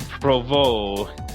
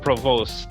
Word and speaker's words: Provost: On this day in Habs history, on this day, September 17th, the year of our Lord, 1933, Claude Provost, not Provost, as my Ontarian tongue would pronounce it, was born in Montreal.